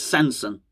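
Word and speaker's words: Sanson: saucy son he's not it's not sausage song but um it's samson samson but it's song you got to pronounce it song song if you don't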